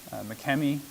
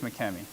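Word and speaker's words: Makemie: We previously covered Francis McKemmy, and as I've said, I'm pretty sure that's how you say it. You'll hear it pronounced other ways, but I think it's McKemmy.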